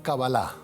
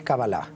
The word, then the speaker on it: Kabbalah: lo pronuncio bien, doctor, ¿es cábala o cabalá? En realidad es Kabbalah, pero bueno, en el mundo hispanoamericano ya decimos permanentemente Kabbalah. Entiendo que el significado, entonces, el concepto general de la Kabbalah sería el conocimiento del todo, ¿no?